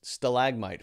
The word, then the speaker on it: stalagmite: I think would be faceless Stalag no stalagmite is right so in a cave